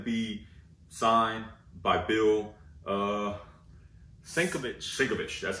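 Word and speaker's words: Sienkiewicz: uh 150 i'm sorry so yeah this is going to be signed by bill uh senko shikovich that's how you say it yeah and thanks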